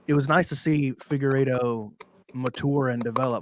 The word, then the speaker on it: Figueiredo: But I do feel that Figueiredo, how would you pronounce his name again?